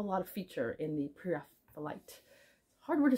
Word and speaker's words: Pre-Raphaelite: word to say prite I always thought it was PR raphaelite and then I heard it pronounced by some English people and thought okay if they know how to say it then I guess I got to go along with that so anyway that's what